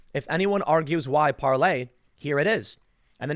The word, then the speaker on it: Parler: So it's spelled parlor for those that don't know. I guess people aren't going to understand the French pronunciation. No, people don't speak French, but it's Parler.